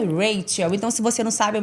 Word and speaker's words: Rachel: Meu nome é Raquel, mas escreve Rachel, a De escrita. São Luís para o mundo. Né, mas a pronúncia é Rachel.